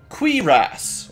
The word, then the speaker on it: Quiras: It's Quiras, or Quiris. So you say it, you say qui, and then you say ras. And you say it quicker, and that's how you pronounce it.